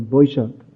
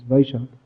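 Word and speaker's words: বৈশাখ: Just like that, Boishakhi Jor means there's the month of Boishak, or in Sanskrit it's Vaishak. In Bengali they pronounce Boishak.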